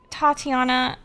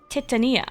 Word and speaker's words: Titania: Tatiana or Oh, wait. I've been saying her name wrong this whole entire time. Titania.